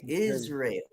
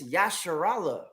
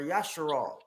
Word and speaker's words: Israel: They say Israel. Israeli. We got you people that think they got the real language saying Yisrael. Right? When it's Yasharallah or Yasharal.